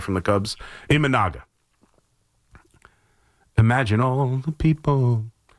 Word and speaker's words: Imanaga: I always pronounce his name wrong. You're getting the Japanese pitcher right from the Cubs, Imanaga. Imagine all the people. Imanaga is pitching, and he's tough.